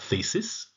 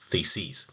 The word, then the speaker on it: theses: Note the plural there, not thesis, theses. That's a plural. Essentially, in the April theses,